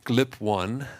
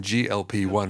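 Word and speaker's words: GLP-1: as a new armentarium so you pronounced it glip one you mean glp1 right okay because it's American versus the European explan uh description so um you know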